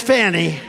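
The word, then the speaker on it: Fani: fonnie well is now even though it's I believe it's spelled f a ni I to my way of thinking that's Fanny but once she became the district attorney I think she put a little emphasis on the U fny so corrupt fonny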